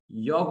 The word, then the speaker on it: you're: Không đọc là do nhé, không đọc là do là sai nhé.